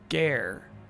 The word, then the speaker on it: Gare: It was right around then that I bumped into Tawny outside of Gare de Lumiose. Gar. No, it's Gar. It's Gar. It's Gar. I remember. Rhymes with R.